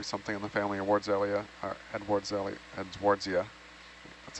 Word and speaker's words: Edwardsia: sponge skeleton, probably something in the family of Edwardsia. That's how you pronounce it.